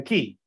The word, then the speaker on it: quay: Quay is an area found in the harbor, or is the harbor basically, the quay. It's called a quay, okay? Pronounced quay, spelled quay. Quay wall with illuminated portholes.